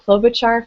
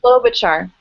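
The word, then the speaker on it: Klobuchar: Um, Senator Clolobachar from Minnesota. She's also very important. She's an agriculture committee member. Say her name again. Say her name. Clolobachar. Okay. Clolobachar.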